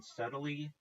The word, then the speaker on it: subtly: something like the person subtly walked past the person subtly walks past? It isn't subtly. The key is to say subtly. Right. No, no, no. I know the B is silently.